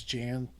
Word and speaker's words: Jan: that showed up were John sobieski the third or Jan at the Polish spelling and pronunciation is Jan sobieski the third charles